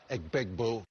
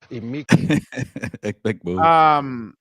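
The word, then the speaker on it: Egbuka: Emeka Egbegboo. Egbegboo.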